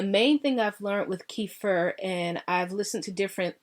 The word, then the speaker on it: kefir: And I know that's pronounced a number of different ways, but I pronounce it kefir.